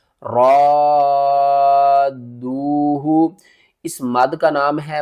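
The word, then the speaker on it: رَادُّوهُ: غلطی کر جاتے ہیں، وہ پڑھتے ہیں رآدوہ، وہ الف کو الگ پڑھتے ہیں، را کو الگ پڑھتے ہیں اور دال اور واو کو الگ پڑھتے ہیں۔ صحیح پڑھنے کا طریقہ کیا ہے؟ ہجے کر کے سمجھاتا ہوں۔ حمزہ نون زیر ان، نون الف زبر نا، ان، را الف دال مد زبر را، دال واو پیش دو، ہا پیش ہو، رادوہ۔ اس مد کا نام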